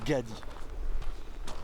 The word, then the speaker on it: Ngadi: de partir de gadi et n'gadi ça se prononce gadi c'est à peu près